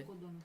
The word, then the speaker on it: Nabucodonosor: Nabucodonosor.